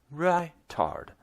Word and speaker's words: ritard: "In music it's pronounced ritard, short for the Italian ritardando, which means slowing down," she said.